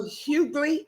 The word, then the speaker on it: Huguley: I apologize for technical difficulties from earlier, but I'm grateful for Miss Piper Huguley. Is that how you pronounce it?